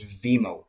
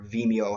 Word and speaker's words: Vimeo: number 11 i chose veemo or vimeo however you want to pronounce said i've heard it both ways now for me